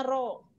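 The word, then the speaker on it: ρ: = rouge Ha ini Rodja yang seperti huruf P ini membacanya rok nih huruf-huruf Yunani rogero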